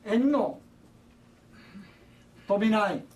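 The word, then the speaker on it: Anno Domini: 엔노 도미나이, 도미니가 해요. 도미나이 발음이, 네, 마지막 끄더니 나입니다. 엔노 도미나이라는 말 이 자체는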